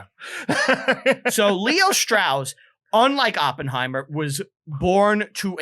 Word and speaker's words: Strauss: is why he's like even though my name is Strauss yeah I want it to be straws yeah the American pronunciation like that makes him